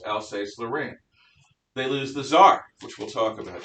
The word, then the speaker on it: Saar: lorraine they lose the tsar which we'll talk about saars are pronounced the same way as the russian emperor totally different spelling and meaning they lose jupiter and